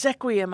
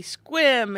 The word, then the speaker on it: Sequim: Well, Squim. yes. But like phonetically, is it Sequim?